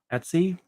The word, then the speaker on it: etc: the Linux Community as Etsy we always pronounce everything weird it's just How We Do It um it's kind of